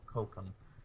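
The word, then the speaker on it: kokum: cream with the Calum how did it C cokum that's right we had to look it up because I wanted to say it right cocum cocum letter so this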